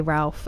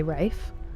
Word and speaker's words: Ralph: It I think it depends cuz some people say Ralph and some people say Rafe. Um, like Rafe Fines, it's pronounced Rafe, but I would say Ralph still for most people.